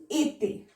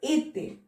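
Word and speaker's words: été: participle, and être is ete. Okay, pronunciation is ete with both accent aigu.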